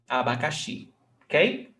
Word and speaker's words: abacaxi: So, abacaxi, nós temos a, ba, ca, xi. Abacaxi, okay?